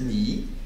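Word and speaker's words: 你: rajoute ce caractère devant qui se prononce ni et qui veut dire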